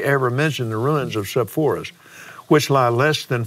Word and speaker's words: Sepphoris: What about the city of Sepphoris? Is that the way you pronounce that?